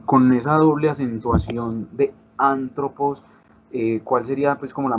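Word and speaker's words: ἄνθρωπος: Colocamos la palabra antropos. Entonces, si la voy a dividir en sílabas, sería antropos. El acento en esta palabra ya lo conocemos porque conocemos en el vocabulario la palabra. El acento principal es este.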